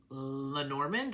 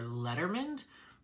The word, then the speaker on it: Lenormand: We are going to be talking about a Lenorand or Letterman. Either pronunciation is totally cool.